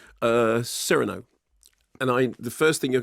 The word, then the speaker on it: Cyrano: Cyrano.